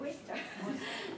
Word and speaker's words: Worcester: The only one was ahead of us is, how do you pronounce it? Worcester.